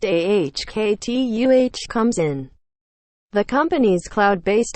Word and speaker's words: Okta: That's where Okta, Nasdaq Okta, pronounced AHKTUH, comes in.